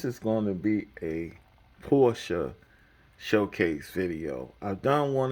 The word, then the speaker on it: Porsche: of course many in the know who follow Automobiles and stuff automobiles Fanatics know that pertinent Porsche Porsche because that's the German pronunciation design the Volkswagen Beetle